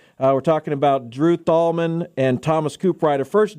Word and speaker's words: Thalman: get your name right do we pronounce the h in there you do not pronounce the h dang tomman I apologize I lost the bet all right it's Drew tomman and Thomas C Rider uh